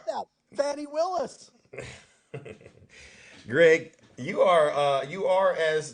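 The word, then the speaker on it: Fani: You got her name wrong. It's Fonnie Willis, and you couldn't say it I right. just said that. Fannie Willis.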